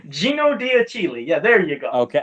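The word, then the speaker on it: Gino D'Achille: That's Dino Diachili. Gino Diachili.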